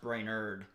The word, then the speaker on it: Brainard: Uh but my last name is spelled brainard and it's pronounced brainerd.